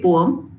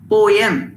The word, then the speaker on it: poem: syllable word it's actually there are two pronunciations uh people use and both are correct some say poem that is correct poem is also correct now